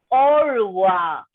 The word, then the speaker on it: au revoir: Ma'am, first one how to pronounce? Meenakshi, remove that hand raising symbol. Okay. First one is au revoir.